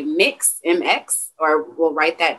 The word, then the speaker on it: Mx: saying mr or mrs some people will say mix mx or we'll write that down and so